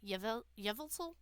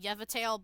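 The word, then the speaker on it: Yveltal: Yevel. I'm not I used to call it yeatale, but there is a L there, so I'm just gonna drop my cards.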